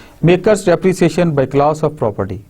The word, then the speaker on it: MACRS: Pronounced as मार्क्स, इसको मार्कर्स के तौर पे लिया जाता है, मेकर्स के तौर पे लिया जाता है, सॉरी, MACRS मेकर्स।